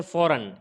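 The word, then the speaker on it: foreign: गया इसी तरीके से फौरन एन से पहले जी आया है साइलेंट हो गया है यहां पर भी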